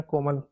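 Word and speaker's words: COMAL: रहा होगा, है ना, बट कोमल अगर किसी लड़की का नाम है तो उसकी स्पेलिंग में के होता है, सी नहीं होता, पर यहाँ पर सी है, पर बोला वही जाएगा कोमल।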